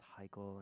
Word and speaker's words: Hikele: People pronouncing it, just constantly hearing, "Oh, the next song from Hikele," and me going, "No, it's Hikele, sorry."